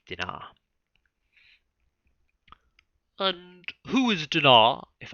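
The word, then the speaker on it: Dinah: pronunciations of that and i was going to go with dinar and who is dinar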